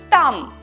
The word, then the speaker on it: там: And there is там, здесь, там.